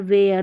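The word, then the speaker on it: wear: जैसे देखिए ई ए है, यहाँ पर इसको बेयर पढ़ेंगे, एयर करके पढ़ा जा रहा है, बेयर, पेयर, वेयर। तो यहाँ पर जो ई ए है इन स्पेलिंग्स में ई ए के बाद में आर रहता है, तो यहाँ पर ई ए को एयर करके पढ़ते हैं, ये है रूल।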